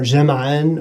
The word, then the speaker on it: جمع: Whereas in Amiya, of course, we don't pronounce this jam'un or jam'an or anything like that. We would say jama'. Jama' is the way we'd say this, with jumu'a being the plural of this word.